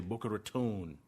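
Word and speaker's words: Boca Raton: is a out of boar ratan or as the locals say boaron they invest in private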